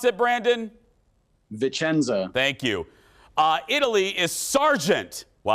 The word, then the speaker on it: Vicenza: Joining us live from, how do you pronounce it, Brandon? Vicenza.